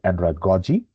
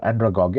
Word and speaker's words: andragogy: A lot of people they pronounce it andragogy. So andragogy, I will pronounce it andragogy.